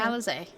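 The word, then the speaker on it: Alisaie: Or Alphino and Alize, which is the correct way to say their names.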